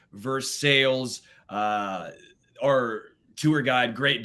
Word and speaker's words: Versailles: goes It's pronounced Versailles we here in the United States we don't call it Perry we call it Paris so it's pronounced Versailles